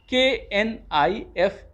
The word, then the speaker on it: knife: KNIFE. Knife. Again K is silent. N will be pronounced only.